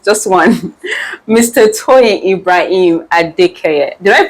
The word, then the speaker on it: Adekeye: TOYIN IBRAHIM ADEKEYE. Did I pronounce that right? Yes. Yes, ADEKEYE.